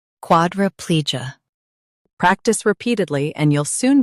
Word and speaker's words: quadriplegia: In US, stress pli. In UK, stress quad. Quadriplegia. Quadriplegia.